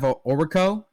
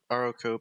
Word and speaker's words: Oroku: Next up we have Oriko. I think that's how you say it. Oroku, but sure.